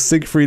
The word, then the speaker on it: Siegfried: It was Siegfried and Roy.